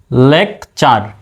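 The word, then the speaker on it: lecture: আছে সুতরাং চার হবে তাহলে হয়ে গেল কি লেকচ চার একইভাবে ফিউচার বানান এফ ইউ টি ইউ আর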